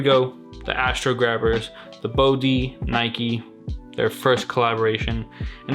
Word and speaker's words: Bode: to be going over the bod is how you pronounce it if I'm not mistaken I've seen people say it's kind of like saying OD cuz the prices are